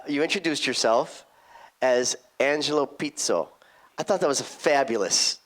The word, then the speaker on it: Pizzo: yes I uh you introduced yourself as Angelo Pito I thought that was fabulous the way you